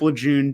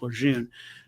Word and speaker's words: Lejeune: the water at Camp Lejeune, or Camp Lejeune, as I was once corrected by a Marine. It's apparently, much like, the French language, spelled and pronounced two different ways.